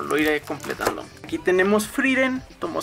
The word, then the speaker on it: Frieren: iré completando aquí tenemos freren tomo 6 que siempre le dije o le dijimos frieren porque pues así se pronuncia hasta que salió el anime y vimos que pues no era así igual voy atrasado con